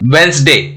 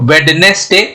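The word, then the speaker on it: Wednesday: उसी तरह से वेंसडे, तो वेडनेसडे नहीं बोलेंगे, क्या हो जाएगा? वेंसडे, वेंसडे। तो यहाँ पे डी क्या हो गया? साइलेंट हो गया, क्योंकि यहाँ पे डी और एन कॉन्सोनेंट है।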